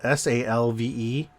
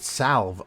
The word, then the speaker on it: salve: I only realized today that the term that's spelled S-A-L-V-E, I've been calling it salve all my life, and it's salve. I didn't know the L was silent.